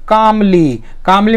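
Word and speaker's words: calm: यहाँ पे एल को साइलेंट से ना उसको उच्चारित नहीं कर रहे हैं।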